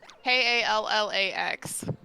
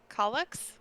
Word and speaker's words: Kallax: you're talking about because you do not pronounce it in Swedish, so I don't know. Kallax. Calyx? Kallax? Is it A? Yeah, Kallax. Callax.